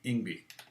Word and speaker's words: Yngwie: I mean, I met him when he first moved to the U.S., and that's how he pronounced it to me, Yngwie.